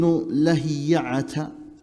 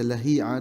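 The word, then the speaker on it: Ibn Lahi'ah: Because of the famous Ibn Lahiya'ata, some they say Lahi'a, the correct way to say is Lahiya'ata.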